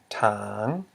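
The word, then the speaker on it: ຖາງ: Because we have a high consonant, t, plus a live syllable, which equals a rising tone. Notice. Well, so this word is pronounced as tang. Notice that the pronunciation of these two words are identical.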